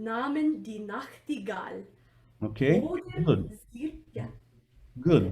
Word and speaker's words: Nachtigall: So Nacht is a bit more important than Gal, Gal is important. Nachtigall, right?